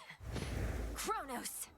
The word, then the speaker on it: Kronos: Kron. How do you say it? Kronos.